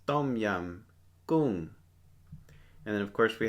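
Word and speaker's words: ต้มยำกุ้ง: Pronounced tom yum goong.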